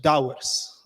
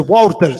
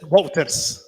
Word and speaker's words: Wouters: Pronunciate my name a little bit better, my friend. It's the Wouters. Said it? Wouters. It's a difficult name, Gert-Jan Wouters. That's a typical Dutch name, but when you practice,